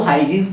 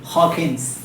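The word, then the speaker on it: Huygens: Dual nature में बच्चों हॉकिंस principal, सभी इसको हाइजीन्स प्रिंसिपल बोलते हैं, बट रियल प्रोनाउंसिएशन सुनोगे तो हंसते हंसते लोटपोट हो जाओगे आप। हॉकिंस, ठीक है, इस हॉकिंस प्रिंसिपल, हॉकिंस प्रिंसिपल।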